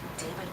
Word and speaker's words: D4vd: Celeste David Anthony Burke, better known by his stage name David, but spelled with a 4.